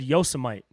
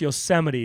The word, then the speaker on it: Yosemite: you guys hear uh trump trying to pronounce yosemite he said yosamite come on dude come on man like bro how do you not know how to pronounce yosemite dude any kid 10